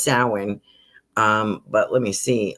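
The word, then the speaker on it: Samhain: They're pronouncing it sin, but they're spelling it a little different.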